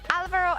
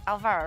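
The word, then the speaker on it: Álvaro: it, but I believe there is uh normally an accent on the A, but you don't see it in the in-game nickname. So, it's Alvaro and not Alvaro, right?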